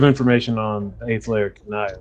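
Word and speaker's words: Cania: Kanaya. Kanaya. Sorry, my Yeah. bad. Kanaya. Do you have any? You have information on the 8th layer Kanaya, right?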